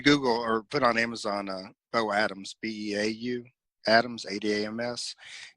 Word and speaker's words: Beau Adams: If you Google or put on Amazon Beau Adams, Beau Adams, Adams. I know it's spelled a little weird, a little different than most people would think, but it's Beau Adams, Beau Adams, and you can put that on Amazon.